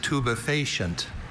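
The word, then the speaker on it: tubifacient: Your word is tubefacient.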